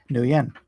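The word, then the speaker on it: Nguyen: last name nian corrects me that I was pronouncing it right and everyone else is wrong Thank You new yen that's right and that's million like bone me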